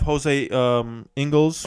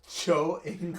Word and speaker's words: Joe Ingles: Also, they have Jose Ingles. Is that how you say it? Joe Ingles. Oh, I thought it was Joe. I thought it was Jose.